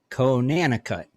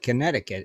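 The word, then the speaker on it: Conanicut: island no it's not connecticut it's can c-o-n-a-n-i-c-u-t spell it against theo and where where is it right there oh connecticut island cut konanna cut ain't connecticut it's connecticut yeah something like that it's it's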